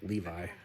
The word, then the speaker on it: Levi: What part is I'm pitched in Levy? Levy? Yeah. Me, too. Wait, you're pitched in Levy? Yes, Levy. Levy. I always heard it pronounced Levi. So weird hearing them say Levy.